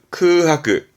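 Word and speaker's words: 空白: 발음은 크하크.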